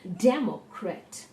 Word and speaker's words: democrat: word like the word democrat democrat here now word democrat dare mo and correct there are three syllables and the syllable de is told more strongly now you might be